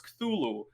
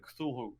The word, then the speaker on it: Cthulhu: And anything merchandise related to the tentacle face monsters, most people know as Cthulhu. You can spell it as K-Thulhu, right? Like Cthulhu, something like that.